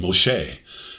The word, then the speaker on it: Moshe: when you look at the hebrew pronunciation moshe and you think of